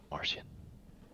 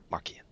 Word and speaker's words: Markian: You know him as Constance Martian. Markian. That's how you pronounce it, right? Markian?